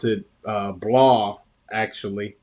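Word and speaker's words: Blois: uh and there's a medieval city uh they pronounce it uh blah actually it's b-o-b-o-o-i-s and uh you know spend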